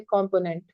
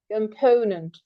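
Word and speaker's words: component: हम कहेंगे कॉम्पोनेंट हम पहले वाले को स्ट्रेस कर देते हैं। लेकिन एक्चुअली प्रोनाउंसिएशन है कंपोनेंट। ठीक है? तो सेंटर वाला सेकंड सिलेबल स्ट्रेस करना होता है।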